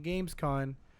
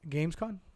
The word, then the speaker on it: Gamescom: But again, during Gamescom, Gamescom. Gamescom? Am I saying it right? Con. Gamescom. Sorry, I'm saying con like convict.